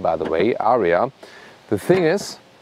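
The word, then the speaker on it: Ariya: for a German Market when you say Arya in German that's the exact pronunciation of Aryan and that is of course another good combination for a car on the German market so the Germans then in their Market try to say rather Aria so it's differently pronounced and there's no you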